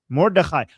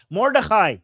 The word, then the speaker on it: Mordechai: I know what this is referring to, but I don't know how to pronounce that. Write it in Arabic or Persian. Mordechai. Mordechai.